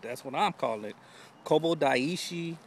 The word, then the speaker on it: Kobo Daishi: the name of this place but it's the Kobo daishi yep that's what I pronounced it now you may hear something else later but that's what I'm calling it Kobo daishi it's called the 88 temples um give you